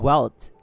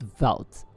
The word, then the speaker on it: Welt: I heard it's pronounced velt because I don't know what language it's supposed to be in. Yeah, it's similar to venti. It's velt, right? Even though it's a W, it's supposed to be velt.